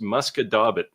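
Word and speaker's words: Musquodoboit: French Canadian, Rick, but this would be pronounced Muscadabit. Your wife would probably say something like Muscat de Bois, except it's a T, not an S at the end.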